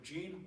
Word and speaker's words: Gene: Nebraskans the pawn a Dr Jean walfish and it's spelled GE NE but it's female Jean and she has quite